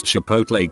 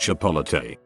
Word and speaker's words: Chipotle: 50 in my life can't pronounce Chipotle correctly I had a co-worker who was 26 who insisted it was pronounced chapala Tay drove me absolutely insane